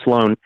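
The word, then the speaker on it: Slo4n: his name is sloan it's spelled s-l-o the letter four or the number four but it's meant to be an a and then n so it's sloan he mentioned something about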